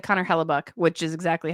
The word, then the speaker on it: Hellebuyck: I said Connor Hellebuyck, which is exactly how we pronounce it.